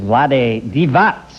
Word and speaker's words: Vlade Divac: Angeles Lakers and I was ignorant enough to mispronounce his name earlier I've got it right now please welcome Vlad divat little cologne Vlad loves me